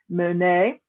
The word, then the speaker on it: Monet: we have claude monet i know it has an ep but that's he's french that's how you monet edgar edgar degas again